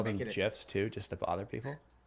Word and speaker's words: GIF: do you call it do you call them gifs too just to bother people you're the jif